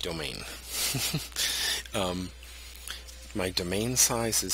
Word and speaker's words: demesne: my domain size that that word that looks like demesne is actually pronounced domain um my domain size